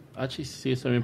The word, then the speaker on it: hachís: Doctora, ¿y el hachís? ¿Hachís sí está bien pronunciado?